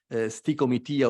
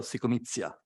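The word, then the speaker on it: stichomythia: the Greek drama, and they called it stikomitia or psychomitia, depending on whether you prefer the Greek or the Latin pronunciation.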